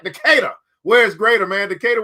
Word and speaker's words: Decatur: Decatur.